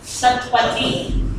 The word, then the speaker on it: सतपति: जो मुख्यमंत्री थी नंदिनी सतपति सतपति क्या है वो वो शतपथ है इसका मतलब वहां पर शतपथ ब्राह्मण प्रचलित था उच्चारण श का स हो गया अभी भी चल रही